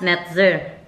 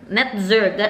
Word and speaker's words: Netzer: Kaya ang naisip ko is Lucas Netzer.